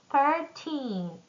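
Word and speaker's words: thirteen: The tip here is that teen numbers stress at the end, like 13, and tens stress at the beginning, like 30.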